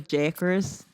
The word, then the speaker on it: Jakers: piggly winks yeah jackers so it's meant to pronounce as jackers that's like his catchphrase